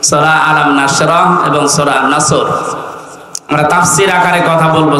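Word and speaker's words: نصر: আয়াতে না তিনটা সূরা তিন আয়াত বিশিষ্ট আসর নসর কাউসার তার ভেতরে একটা তেলাওয়াত শুদ্ধ অনেকের হয়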